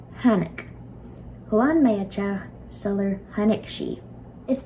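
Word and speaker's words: tháinig: But anyway, technically speaking, without the H, this would be pronounced tanik. With the H, T combines with the H to create a new sound, hanik.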